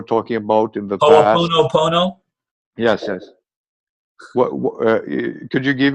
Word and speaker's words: Ho'oponopono: I don't know how to pronounce it. This thing that you were talking about in the past. Ho'oponopono?